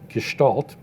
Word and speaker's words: Gestalt: of looking at photographs is actually gestal Theory Gestalt and and it's pronounced Gestalt is a theory of how we see things